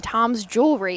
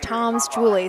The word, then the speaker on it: Tom's Julie: through the the final I completely mispronounced the five's name I was saying Tom's jewelry it is Tom's Julie so my mistake mind